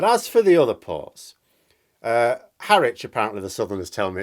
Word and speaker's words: Harwich: But as for the other ports, Harwich, apparently the Southerners tell me it's pronounced, usually between 13 and 26 hours to Rotterdam.